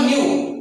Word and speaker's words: nu: It is denoted by the generally small f, small n, or it is a Greek symbol nu, pronunciation as N-E-U, nu.